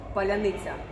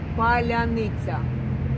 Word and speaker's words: паляниця: So also you will have 5 attempts to pronounce hard Ukrainian word Palianytsia.